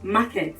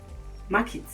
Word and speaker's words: market: We say market, but that's wrong. The right thing to say is market. I want to go to the market.